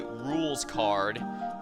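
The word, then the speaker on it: Rouxls Kaard: I was told that if you're pronouncing his name correctly, it should be rules card, which I guess makes sense since he basically represents a rules card from a card deck.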